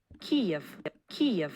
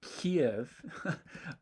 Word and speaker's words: Kyiv: We can compare it to the Kyiv pronunciation, in which there's clear aspiration, about 83 milliseconds of aspiration. Kyiv.